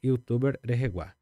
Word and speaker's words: youtuber: Sempre pronunciar o r no final ali.